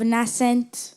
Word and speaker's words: nascent: Is there more than one way to pronounce nascent? There is indeed. The other way is nascent. Can you read the meaning of nascent?